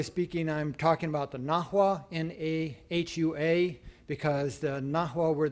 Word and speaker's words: Nahua: I'm talking about the Aztecs, but really, properly speaking, I'm talking about the Nahua, N-A-H-U-A, because the Nahua were the Aztecs were